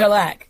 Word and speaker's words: Grzelak: Grzelak, but it's actually a Polish surname. Grzelak. But it's that soft G sound at the beginning, like je m'appelle.